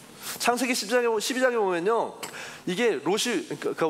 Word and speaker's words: 롯: 근데 아브라함의 그 조카이 그 루이랑 비슷한 롯 발음을 잘해야 돼요.